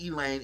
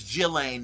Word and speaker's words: Ghislaine: It's not Elaine, it's Ghislaine Maxwell, who was Jeffrey Epstein's side piece.